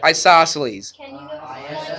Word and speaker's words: isosceles: Isosceles. Isos. I-S-O-S. And then celes. What is C-E-L-E-S? That's all it is. It's isosceles. Even after I go over it, like Celine Dion, exactly.